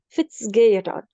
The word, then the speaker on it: Fitzgerald: By the way, Maisa, you can pronounce this E as A. So I can say Fitzgerald. Okay, Fitzgerald.